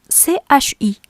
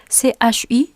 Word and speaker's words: ち: Mais ça peut provoquer la confusion parce qu'en français, CHI se prononce chi, n'est-ce pas? Mais en japonais, CHI se lit chi. Donc, essayons de lire cette lettre comme s'il y avait un T devant CHI.